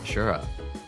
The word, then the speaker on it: Asura: So there's like it's pronounced like there's an H in there, but there isn't. Ah. Ashura.